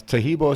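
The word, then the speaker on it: Taheebo: That's Tahibo is spelled T-A-H-E-E-B like boy, O.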